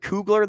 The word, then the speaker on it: Kugler: Why is there so many syllables? In Kugler or yeah, it's just Kugler, isn't it?